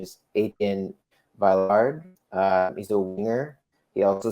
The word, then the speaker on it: Etienne Villard: The pronunciation is Etienne Villard.